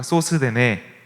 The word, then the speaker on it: 소스데네: 소스데네. 네, 소스데네라고 읽게 되는데 어쨌든 소스데네라고 하는 거의 뭐 찐 무명에 가까운 아마 낯선 사람이지 않을까 싶습니다.